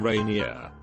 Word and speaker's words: Rainier: son the middle name Rainier pronounced like the mountain not the French Way for a long time